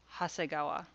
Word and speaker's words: Hasegawa: or just keep listening these characters when they're put together into a name are read hasegawa yes hasegawa i'm not kidding hassai is nowhere in that list of readings for the kanji nagai but here that's how it gets read ha and then this